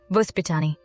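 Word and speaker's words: воспитание: Vospitaniye. There's a Russian word you'll hear often, Vospitaniye.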